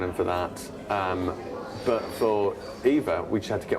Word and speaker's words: Ewa: That's great, but Ewa, her name's Eva, it's spelled Ewa.